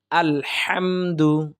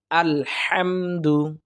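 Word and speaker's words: الحمد: করব অর্থাৎ কিভাবে হবে আলহামদু আলহামদু অর্থাৎ হা হলকের মধ্য থেকে দুইটি হরফ উচ্চারিত হয় আইন হা এই হা টা আমরা হলকের মধ্য থেকে কণ্ঠনালীর মাঝখান থেকে আমরা উচ্চারণ করব তাহলে দেখবেন সহজেই আলহামদু আমরা উচ্চারণ করতে পারবো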